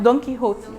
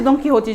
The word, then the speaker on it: Don Quixote: It's pronounced Don Quixote. So we have Harry Potter and Don Quixote. Any other answers? Don Quixote. Yes, Don Quixote. It's actually Don Quixote.